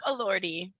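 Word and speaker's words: Elordi: olivia j gianouli and jacob allordy i always remember it because it rhymes with lordy he's hot that's good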